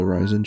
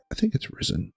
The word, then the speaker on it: Ryzen: new version of the Ryzen chips to come out, or Ryzen chips. I think it's Ryzen. I think that's the technically correct way to say it.